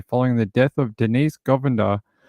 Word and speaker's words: Govender: on Thursday following the death of Denise Govender. That's the way they pronounce her name, but it's got an E in it.